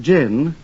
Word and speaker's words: John: While his middle name is spelled J HN John, it's actually pronounced Jin as in a martini.